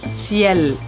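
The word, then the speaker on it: Fjäll: swedish feel robin kanken proper way to pronounce our brand is field we're just gonna call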